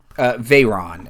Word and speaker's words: Vhaeraun: Veyron, and it's spelled weird. It's VHAERAUN. Okay.